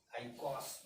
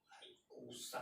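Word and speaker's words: icosa: ऑक्टाडेक, C19 नोना deck, C20 ICOS, आइकॉस बोला जाता है, या इसकी स्पेलिंग एक और होती है, आइकोसा बोला जाता है इसको, आइकोसा।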